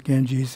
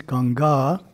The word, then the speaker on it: Ganga: interesting facts of course genji's is the english word word in indian language is ganga long a on the second a ganga swami harshananda